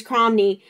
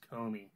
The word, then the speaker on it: Comey: a investigation into James Cromney, opening the investigation into Hillary Clinton about the email servers. I believe it's pronounced James Comey.